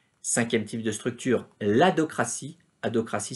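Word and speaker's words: adhocratie: Adocratie, ça s'écrit A-D-H-O-C-R-A-T-I-E, l'adocratie, qu'on appelle aussi la configuration adocratique, comme organisation ad hoc, organisation taillée sur mesure pour réaliser une mission, j'y reviendrai.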